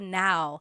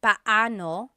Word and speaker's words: paano: just a pronunciation tip it's technically paoo when there're two vocab or when they're two vowels together you say them separately Pao but when speaking quickly Filipinos just say now let's practice using